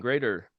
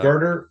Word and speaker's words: Girder: You mentioned Greater. I think I'm pronouncing that right. They re-released your albums. on Oh, Girder Girder. Records. Girder, I'm Yeah, sorry, Girder.